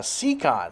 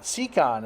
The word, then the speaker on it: Siekon: I'll talk about those more later but uh secon secon is how you pronounce the brand name they are smaller than